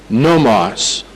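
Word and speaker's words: νόμος: Ahora, la palabra ley es nomos, N-O-M-O-S, nomos. O si prefiere la pronunciación española, nomos.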